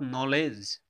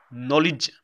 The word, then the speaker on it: knowledge: by some people knowledge it's not knowledge the perfect pronunciation of this word is knowledge we have to say knowledge we have to pronounce it knowledge you can see here